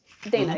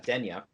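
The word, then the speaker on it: Deyna: and the young Dana is that how they say it in the audio book Dana yep Dana uh there goes there goes younger petza uh pronunciation in his head for God knows how many years of uh denya but whatever well you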